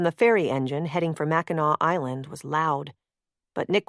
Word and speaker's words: Mackinac: the island was spelled Mackinac. But they were pronounced the same, without a final C sound.